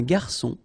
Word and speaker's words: garçon: Remember when we get this cédille beneath the C, it will give you the pronunciation S of C. So instead of K, as it should be with O.